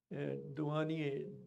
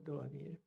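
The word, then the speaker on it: Douanier: the internet h e n r i a dwan d o u n i e r dwan.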